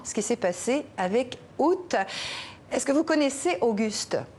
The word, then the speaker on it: août: L'histoire de la prononciation du mois août, du mot août, peut donc se résumer ainsi, Nidia. D'une part, on a longtemps prononcé le A initial, mais sans pour autant faire entendre le T final, donc Aou.